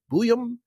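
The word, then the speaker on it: Buium: Buyum. Like when people say sometimes they say booyah.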